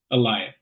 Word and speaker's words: Elias: I've heard you guys mispronounce it a couple times. It's pronounced Elias.